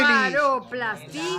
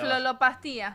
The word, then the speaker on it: blefaroplastia: Blefaroplastia.